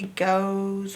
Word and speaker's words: goes: Go, and then you don't hear the E, but you do hear the S. O, the O and the E is making the O sound together, and S is making its normal S sound. Goes. This is the part you have to learn by heart, is this O and E.